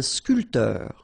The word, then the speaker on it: sculpteur: Un sculpteur. Same thing here. This P here is not pronounced.